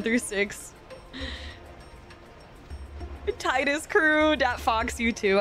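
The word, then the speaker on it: Tidus: too I love it Titus VA confirms its tetus in pronunciation gotcha tetus is the official officially wrong way to say it I like that that fox the officially wrong according to the devs I got you I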